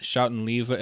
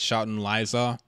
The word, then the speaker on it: Shoutin' Liza: It's not Shoutin' Lisa, it's Shoutin' Liza.